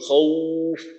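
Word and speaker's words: خوف: শেষের আয়াতে ওয়া আমানাহুম মিন খাউফ, খাউফ খটাকে মোটা করে উচ্চারণ করা। আর এখানে বলা হয়েছিল যে এখানে ওয়াওয়ের উচ্চারণটা ওর মতো হবে না, বরং দীর্ঘ উর মতো হবে।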